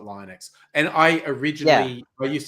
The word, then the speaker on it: Linux: I'm on board liquid even Linus to volds calls Linux Linux not Linux yes named after him he has his accent as well he he yeah it sounds like Linux when he was saying it um yeah a little